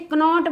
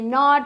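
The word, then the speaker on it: knot: नॉट make it नॉट इसको कई बच्चे कनॉट बोलते हैं कनॉट नहीं है ये नॉट है इसमें जो के है वो साइलेंट है क्या है साइलेंट है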